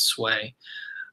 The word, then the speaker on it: Sui: by the sway Sui is sui obviously every pronounce sway and their leader so remember the leaders name